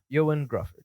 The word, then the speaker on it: Ioan Gruffudd: Ioan Gruffudd.